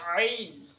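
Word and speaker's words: ع: জা জা এ হচ্ছে জয় উচ্চারণ এবার হচ্ছে আইন আইনের উচ্চারণ আইন আইন কোথা থেকে উচ্চারণ হবে হলকের মাঝ বরাবর মাঝের থেকে অর্থাৎ এই যে বলা যে হলক এই হলকের মাঝের অংশ থেকে কি আদায় হবে আইন উচ্চারণ হবে মাঝের অংশ কি উচ্চারণ হবে আইন আইন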